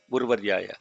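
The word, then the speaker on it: उर्वर्याय: Rva is the syllable. So the entire Rva is down. Urvaryayacha. So it's not the letters you have to look at. You have to look at the syllable.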